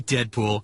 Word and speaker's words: Deadpool: are my manners introductions call me Deadpool it rhymes with no school too cool ain't no